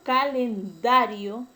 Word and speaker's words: calendario: El término calendario es grave porque la mayor fuerza de voz está en la penúltima sílaba y no se tilda porque termina en una vocal. Entonces es una palabra grave sin tilde.